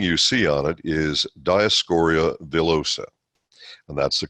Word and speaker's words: Dioscorea: the first thing you see on it is Dyess Coria bullosa and that's the correct pronunciation by the way it's taken from dioscorea